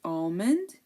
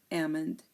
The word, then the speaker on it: almond: the word almond um the L is optional in my opinion I personally say almond and some people say Ammond um but you know this is you know this is optional this is like you know it depends uh where you're from some native speakers say